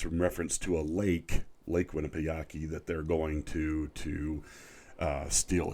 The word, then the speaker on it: Winnipesaukee: Season 5, Episode 9, called Winnipesaukee. I believe is how you say the word. It's in reference to a Lake Winnipesaukee, that they're going to steal a shuttle.